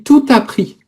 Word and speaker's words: tout appris: Non non, il faut la liaison. J'ai tout appris.